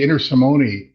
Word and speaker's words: Intersimone: That's why I went for I, but I used to say Intersimone, and then when I was a teenager, one of my Italian relatives said, no, it's Intersimone, with accent on the T.